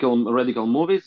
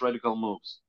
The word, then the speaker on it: Radical Moves: I said it right it's not rad radical movies it's radical moves radical moves yeah so